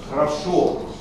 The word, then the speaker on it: хорошо: Хорошо. Хорошо, это нормативно для литературного языка. Первый слог очень слабый.